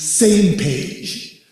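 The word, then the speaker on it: SMPA: And you pronounce that as same page because it's the effort to get the countries on the same page when it comes to doing something about asteroids.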